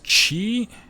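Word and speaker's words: ち: there's two exceptions here first is chi starts with a ch right okay instead of a t soft h sound the next is sue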